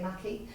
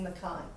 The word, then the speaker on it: Mackay: So it was designed in 1989 by Arthur Mackay, I pronounce that, some may say Mackey, Scottish heritage, so I'm saying Mackay, of Strathmore Woolen Company, and it was at that point known as the Air Force tartan.